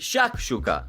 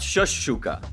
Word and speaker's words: shakshuka: her pronunciation fool you it's Shak Shuka not shush Shuka honestly despite her Butchery